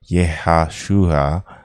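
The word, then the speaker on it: Yehoshua: If pronounced the pentagrammaton in Hebrew, it would be Yehashua, which is usually translated as Joshua.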